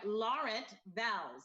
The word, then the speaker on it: Laurent Vals: Welcome this morning, Chef, make sure I say your name right, Laurent Vals.